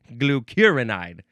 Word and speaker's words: glucuronide: Ah, freaking frag glucurinide. The emphasis is in the second syllable.